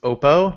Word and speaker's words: Oppo: form look like an iPhone um that you pronounce it wrong it's Oppo now Excuse me while I go stand in